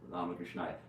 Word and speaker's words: Ramakrishnaya: It's a long A, Arya, Ramakrishnaya.